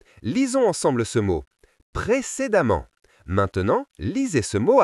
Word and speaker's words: précédemment: Quand la lettre E est suivie par 2 M, elle se prononce souvent A, comme dans les mots femmes et évidemment. Lisons ensemble ce mot précédemment.